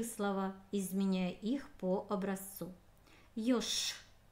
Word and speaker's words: ёж: Ёж. Написана буква Ж, а звучит как Ш. Ёж.